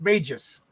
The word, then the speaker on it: Magus: And from the chat, it's pronounced Magus.